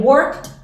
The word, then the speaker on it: worked: we wrote you wrote they wrote y el worked que es un verbo regular igualito para todo